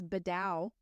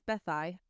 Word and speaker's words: Beddau: That's and maybe it's like Southern education, but I was like, they lived in Bedu, You would think it's Beddau, but maybe. Beddau, Beddau, but it's Bethai.